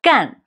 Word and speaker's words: 干: tone and another meaning It's a verb meaning to do 干 a falling tone I know you learned